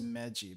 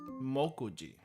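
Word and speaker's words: 目次: The obvious answer is Meji, but that's probably not right. Probably not right. And it isn't. It is Mokuji. Mokuji, kanji composition. For I, me is the usual pronunciation, but moku, I think moku for I doesn't come up that often. So I guess that's just something you gotta remember. Mokuji, at least G is still the same.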